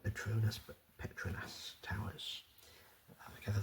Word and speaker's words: Petronas: we are visiting the Petronus Towers as many people pronounce it internationally. Although when I went to visit I learned that the correct way to say it is Petronus.